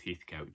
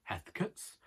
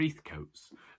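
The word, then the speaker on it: Heathcote: heathco just in case that's the pronunciation for me other people call themselves ethics julia stevenson plays catherine heathcut in a adaptation of a velma dermond novel and it haunts me her pronunciation of that but we're eth coats and we're not commenting but we're not common enough we are common we're plenty common we're too common to pronounce it any other way someone has a lottery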